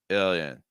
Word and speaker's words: alien: lower jaw alien alien alien okay that again is just gonna help with airflow notice that the ill syllable is the higher pitch the Yen syllable is a lower pitch and faster aliens alien alien alien